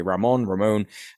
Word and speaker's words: Ramon: But the missiles that actually got to Israel and blew up Ramon Airport, I think it's pronounced that way, Ramon, in the Negev Desert.